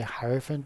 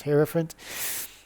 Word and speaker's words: hierophant: I used to say Hierophant, but it's Hierophant.